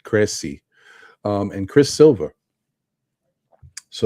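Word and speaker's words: Krejci: one got me vit kregsy I think that Jay is silent I think it's vit Cressy um and Chris Silva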